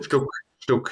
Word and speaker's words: Stuck: Louder qualified third with Hunt fourth and Stok in fifth. Is that how you pronounce his name? Benny Sto. Stuk. Yeah.